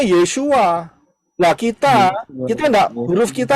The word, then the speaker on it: ישוע: Pengucapan di dalam bahasa Indonesia adalah tertulis Yeshua. Betul? Ya benar, karena orang Israel ngomongnya Yeshua.